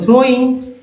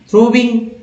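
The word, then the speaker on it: throwing: कहाँ गलत उच्चारण हुआ, लोग समझ बैठते हैं THR और थ्रो, और WING विंग, थ्रोविंग, गलत कर बैठते हैं। तो इसलिए मैं बोलता हूँ कि W को भी ई की तरह उच्चारण।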